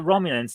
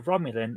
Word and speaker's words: Romulan: Because if you speak Klingon, then the Klingon word for a Romulan is Romulusnugan. So at some point we must have found out that the Romulans pronounced something like Romulus, and that's how we get the Romulan.